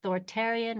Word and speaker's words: authoritarian: Or is it authoritarian, rhymes with barbarian, hard-nosed?